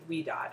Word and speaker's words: Ouidad: it's called curl talk by we do o u i d a d we do she pronounces it we do and she's called she's